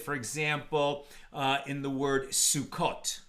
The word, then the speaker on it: Sukkot: When the vav is there, then we know for sure it can only be pronounced sukkot.